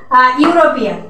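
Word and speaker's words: European: কীরকম, যেমন ধরো ফর অ্যান এক্সাম্পল ইউরোপিয়ান, ইউরোপিয়ানের আগে দেখো ই আছে, ইটা কিন্তু ভায়োল, কিন্তু এর উচ্চারণটা ইউ, হ্যাঁ এর উচ্চারণটা ইর মতো না হয়ে ইউ এর মতো হয়, এই জন্য এখানে কি হয়েছে এ ইউরোপিয়ান হয়েছে।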